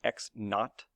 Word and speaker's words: x naught: this interval remember this x sub zero is pronounced x not not not but not note each of the